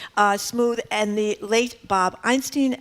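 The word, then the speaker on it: Smoove: The great JB, how do you pronounce his last name? Smooth.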